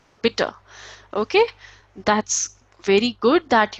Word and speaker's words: bitte: So, as I have told you, at the end, if E is there, the sound would be of a, so bitter.